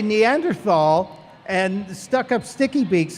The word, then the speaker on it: Neanderthal: Neanderthal.